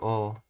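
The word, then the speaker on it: を: is with the object Markle or which is spelled with wool but when it's set as a particle you just say oh there are a few others involving do ensue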